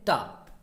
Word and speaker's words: ta: लाया है, वो है टा। लिखा है टी ए, है ना, लेकिन इसको कभी प्रोनाउंसिएशन जो होती है वो ठ ऐसे करके, एकदम ठा नहीं, ठ बोलते हैं वर्ड।